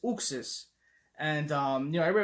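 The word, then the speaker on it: Uxas: to pronounce it so i was saying you access i didn't know then i heard zooxas but he says uxs and um you know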